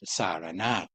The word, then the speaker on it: Sarnath: In the present day, this place is known as Sarnath Deer Park. Asian people pronounce it Saranath.